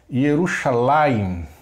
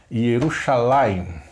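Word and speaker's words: ירושלים: Yerushalayim, lembrando da sílaba tônica sempre no final. Yerushalayim, tá ok?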